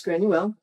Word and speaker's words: Granuaile: of the boat is granule which is the gaelic pronunciation of grace o'malley okay so mally was